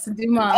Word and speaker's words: Dumas: We've got Dumas. I want to make sure I got it Dumas, right? Yes, Dumas. Oh man, without the S, even though it's spelled with an S, because I got the pronunciation right.